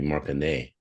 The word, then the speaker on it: Marconnette: But there wasn't an E on the end of the name when it came from France. Really? That Yeah. makes that makes it a different to pronounce. So it would be Marconet.